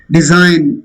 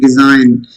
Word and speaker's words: design: Design, I already gave you for an etc. Align. The same way, whenever GN cluster is there, G is silent. Design, G is not pronounced.